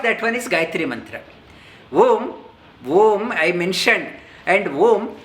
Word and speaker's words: Om: Om I mentioned, and Om 3 syllable. 3 syllable Om opens up. Om is a monosyllable. Om opens up as 3 syllables. A, U, Ma.